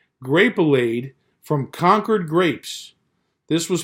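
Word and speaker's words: Grapelade: an advertised grape bleed rhymes with marmalade grape allayed from concord grapes this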